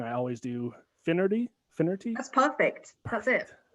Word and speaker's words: Finnerty: guest here with us ellie and i'm gonna pronounce it wrong i always do finnerty infinity that's perfect that's it nailed it all